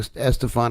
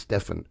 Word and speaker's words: Estefan: Just like Gloria Estefan, everybody said Estefan and it's Stefan.